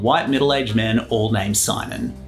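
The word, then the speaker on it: Siimon: used by this guy Sion Reynolds I pronounced the extra I because he has the audacity to include it back in the 80s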